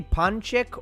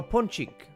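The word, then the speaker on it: Ponçik: Uh, you don't know that you are pronouncing a Turkish letter by saying ponchik. Oh, punchik. Punchik is like Turkish. Yeah. Punchik. It's normally punchik which means cute.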